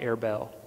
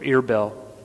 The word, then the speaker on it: Erbil: Those of you who keep up with the news and the ISIS developments in Iraq, Arbela is modern-day Erbil, or Irbel, depending on how the news pronounces it.